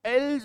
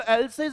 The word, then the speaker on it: else: इसका जो प्रोनाउंसिएशन होता है बच्चों वो एल्स होता है, क्या होता है, एल्स। तो इसको एल्सेज एल्सेज नहीं करना, अपने को क्या करना है, somebody else, somebody else।